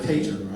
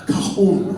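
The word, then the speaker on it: cajón: Now, for those of you that have not seen one of these before, it's called a Cajun, right? A cajon, right, is how you pronounce it.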